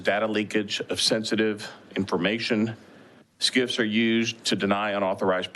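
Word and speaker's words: SCIF: cert complying with certain facility standards known as skip sensitive compartment information facility it's pronounced skip this term originates from the Department of Defense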